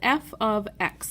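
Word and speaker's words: f(x): involved and so we use this thing called f of X that's how you say it f of X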